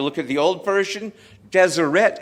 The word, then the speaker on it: Deseret: If you look at the old version, Deseret is pronounced Deseret. It's got an E sound in it.